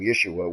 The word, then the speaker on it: Yeshua: when you can when you can you know pronounce his name Yeshua ye Shu you know ye s hua you